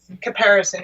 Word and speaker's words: Caparison: Is it Caparison? Am I pronouncing the name right? Caparison, yes.